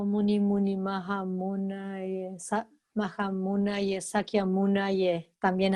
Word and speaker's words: Munaye: Muni, Muni, Maha Munaye. Munaye. N-A-Y-E. Pronunciando la Y como en inglés, por ejemplo, no como en castellano, como nuestro rioplatense, no Munaye, sino Munaye.